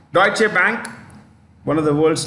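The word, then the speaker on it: Deutsche: lard deche Bank how do you say that deche oh D deutche bank one of the world's largest banks this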